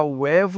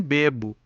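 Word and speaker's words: huevo: Assim, por exemplo, o evo, sabia-se que se pronunciava uevo e não bebo, ou como na palavra ueso para não pronunciar beso.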